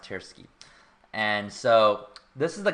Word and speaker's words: Tversky: I don't know how to pronounce this very well either, but I think it's pronounced Tversky.